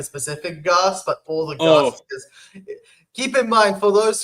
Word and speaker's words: Garth: Garth, but all the Garths. Keep in mind, for those who are not American, it sounds like arse, as in how the British say arse.